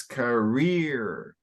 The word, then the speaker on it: career: nice good good pronunciation one suggestion it's career area yeah and so this is an exception most English words emphasis up front so it would be career again all right but